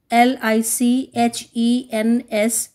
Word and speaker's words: lichens: L-I-C-H-E-N-S, pronounced as lichens.